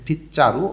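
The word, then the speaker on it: 빗자루: এবার তার পাশে এখানে ঝাড়ু দেখা যাইতেছে, গোল চিহ্ন মার্ক করে দিয়েছে এবং উপরে লেখা আছে ফিচ্চারু অর্থ হচ্ছে ঝাড়ু। তধনির বাচ্চিমের পরে যখন জিউত আসে তখন জটা চ উচ্চারণ হয়।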